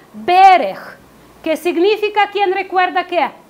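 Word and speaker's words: בֶּרֶךְ: Y la palabra bendición proviene de la palabra hebrea que se pronuncia berech, que significa, ¿quién recuerda qué?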